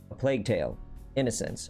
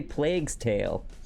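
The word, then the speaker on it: A Plague Tale: Innocence: stream we play um a plague tale innocence i said it right this time chad i didn't add the s to the end i didn't say plague's tale yes progress so we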